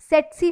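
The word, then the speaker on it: tsetse: That is ड्यू टू सेट्सी फ्लाई, टी जो है इसमें साइलेंट होता है।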